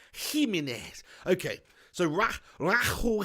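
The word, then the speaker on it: Jiménez: this game level Oh says Jimenez is pronounced he mean is okay so rock rock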